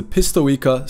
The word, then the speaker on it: Pistoeka: Their real name was the Pistoeka [pisto-eka - say it like “droideka”] Sabotage Droid, with “pisto” referring to the pest and “eka” being the Colicoid word for drone or servant.